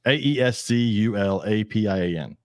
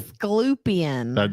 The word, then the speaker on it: Aesculapian: Esclupian. No, you're putting the U in the wrong place.